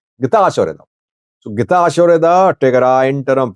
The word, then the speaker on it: Getachew Reda: People say you pronounce Getachew Reda's name wrong. His name's pronunciation is Getachew Reda.